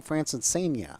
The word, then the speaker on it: Francesena: Francesena.